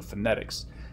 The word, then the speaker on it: phonetics: stress marker um on the stressed syllable of phonetics which is the second syllable so phonetics more emphasis more emphasis